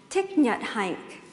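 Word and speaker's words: Thích Nhất Hạnh: by the Vietnamese Buddhist monk tignat hike it's how you pronounce it in Vietnamese that the poem was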